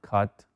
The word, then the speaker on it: cut: I cut my hand. Me corté la mano. Observen cómo se pronuncia, ¿no? Se dice cut. Se dice cut. Como con la A. Cut. I cut my hand.